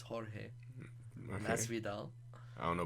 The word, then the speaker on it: Jorge: Some people call him George, but it's Jorge Okay.